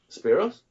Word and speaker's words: Spyros: was talking to says, "So how do you say your name? Is it Spyro? Spiral? How you say?" And Ray just looked at me and said, "Spyros?"